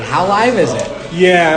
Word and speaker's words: HowLive: So it's kind of like tongue in cheek, but like Hal Live. Like how live is it?